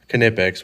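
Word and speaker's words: Knipex: backs here because I reached my nipex pliers knippex what kind of X all right I said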